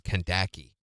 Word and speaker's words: Kaki: only her real name her real pronunciation of her name and her mother never would let me establish it is Kaki rhymes with tobaki her mean nickname can't